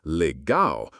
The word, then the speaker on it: legal: You'll hear it pronounced legal with the stress on the last syllable, and it rolls off the tongue in almost every interaction.